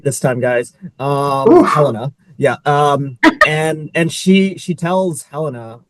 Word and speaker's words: Helena: Helena.